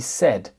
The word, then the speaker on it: said: et un I e mais on ne dit pas sa on dit said exemple j'ai demandé